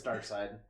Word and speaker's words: Darkseid: Yeah, I mean, You know, if they don't want, you know, Darkseid. I mean, Darkseid, Lobo however fits, the hell you though. say that dude's Because name. It's Darkseid.